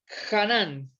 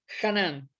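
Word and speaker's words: חָנַן: gracia es una palabra en hebreo que se pronuncia así ganan esa es la palabra canán y quiere decir doblar o inclinarse en bondad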